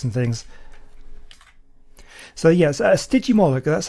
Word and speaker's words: Stygimoloch: kind of spikes and things so yes a sticky molecule that's how you pronounce this one now the interest think about